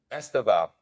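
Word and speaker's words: Estêvão: Estavio, who we who is going to start against us the next game, is coming back uh after the Club World Cup. Estaval. Yeah, Estaval. That's how you say it.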